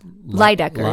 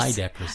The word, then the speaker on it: Leydekkers: It's Leydekkers. Leydekkers. It's fine. Right. Somebody either mispronounces the front or the back. It's either or Leydekkers. Yeah. Leydekkers. That's it's Dutch.